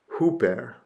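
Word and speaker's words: ὑπέρ: But we have the word for uh a preposition uh and it is a rough breathing mark plus an oopsilon. And it is hooper.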